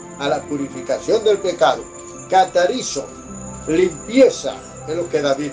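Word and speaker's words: καθαρίζω: La palabra limpiar, limpio, viene del término griego catarizo. Se escribe con K de kilómetro.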